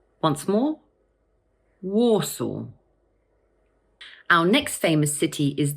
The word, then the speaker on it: Warsaw: So just break it down into two parts, war and saw. The stress falls on the first syllable. So in full, we pronounce it Warsaw. Once more, Warsaw.